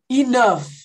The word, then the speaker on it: enough: enough. Enough, enough. Enough. Isso, enough. Enough. Eu pronuncio como se fosse um F no final.